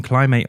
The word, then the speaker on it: climb: Thanks for pronouncing the B.